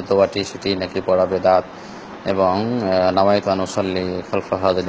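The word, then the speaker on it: বিদআত: আপনি যেটি বলেছেন সেটা হলো পূর্ণ, সঠিক উচ্চারণ হলো বেদাত, অর্থাৎ নতুন আবিষ্কৃত বিষয়।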